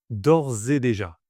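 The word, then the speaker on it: d'ores et déjà: Attention à la prononciation, il faut bien faire la liaison entre or et d'ors et déjà.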